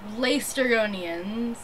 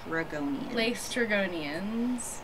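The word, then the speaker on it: Laestrygonians: lester go late or lace dragonians that's how you lace dragonians there we go it's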